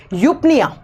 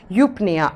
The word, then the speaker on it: eupnea: चलो सबसे पहली आती है यूपनिया।